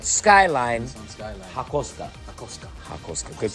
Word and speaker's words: ハコスカ: Hakosuka, good pronunciation.